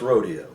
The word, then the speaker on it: rodeo: Cherokee Ranch Wild West Rodeo. Rodeo or rodeo, both proper pronunciations meaning roundup, which started